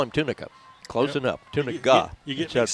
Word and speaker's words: Tunica: It's C.J. Tunica, and Tunica is his correct pronunciation, but I look at it and it looks like Gazinga. So it's Tunica is what I was told.